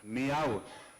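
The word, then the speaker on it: Millau: then this is the one of the latest meow I used to call it mil till was corrected it's pronounced I'm told as me Viaduct this is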